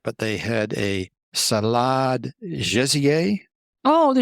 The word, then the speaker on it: gésier: And then I was thinking about the menu, and I'm not sure I can pronounce this right, but they had a salade gésier. Oh, the gésier, yes.